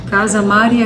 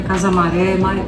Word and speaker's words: Casa Mari: Casa Mari é casarão em romeno, só que acabou sendo o nome que eu escolhi e não deu liga, mas é muito erro de pronúncia. Casa Maré, Maré é coisa que vai para trás.